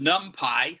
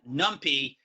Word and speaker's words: NumPy: There's a library called NumPy, sometimes pronounced NumPy, which gives you built-in support for arrays.